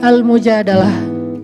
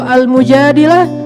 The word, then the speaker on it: Al-Mujadalah: Kalau Al-Mujadilah, perempuan yang curhat. Kalau Al-Mujadalah, curhat. Jadi tergantung kita bacanya dilah atau dalah. Kalau kita baca Mujadilah, berarti perempuan yang lagi curhat. Kalau kita baca Al-Mujadalah, berarti curhat itu sendiri.